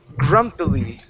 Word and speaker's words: grumpily: Uh, right here we have the word grumpily. Grumpily. Grumpily. Okay. Uh, make sure to pron to pronounce that gr instead of goo grump. It's grump. Grumpily.